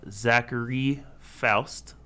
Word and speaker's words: Zachary Foust: Today we have Zachary Foust.